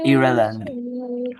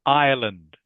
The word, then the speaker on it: Ireland: Um I think it is irreand. Okay. Good. It is pronounced Ireland. Jaffhat. Okay. Island. Ireland. Can you say that please? Ja. Ireland.